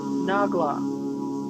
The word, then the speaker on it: Nahglah: The two that I met are Tridija, that's spelled Trydiga, and Nagla.